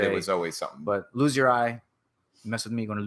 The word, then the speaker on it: Lulgjuraj: Our last name, man, Lulgjuraj. Lulgjuraj. It's a long name. And how do you is it pronounced that way in Albania?